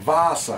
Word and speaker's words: Vaasa: Sim, Vaasa, é assim que pronuncia.